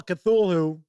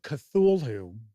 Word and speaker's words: Cthulhu: Uh Chris Lundren says, "Darn you for introducing me to Call Cthulhu."